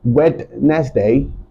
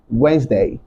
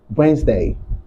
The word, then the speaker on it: Wednesday: the last video that this word is not wetness day but instead you say this word as Wednesday Wednesday okay another example is this word of course